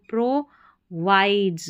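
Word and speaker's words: provides: अब इसको साइलेंस पढ़ेंगे, ऑलरेडी आ गया है साइलेंस, PRO, प्रोवाइड्स, विड्स नहीं पढ़ना, वाइड्स पढ़ना है।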